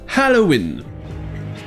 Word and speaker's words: Halloween: en français on dit halloween mais en anglais déjà ya le h aspiré au début et ensuite le haut se prend on soin aux ou alors halloween et bien déjà l'origine